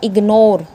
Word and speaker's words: ignore: बोलता है अगर जी किसी वर्ड के मिडल में आ जाता है तो हम वहाँ पे उसको प्रोनाउंस करेंगे।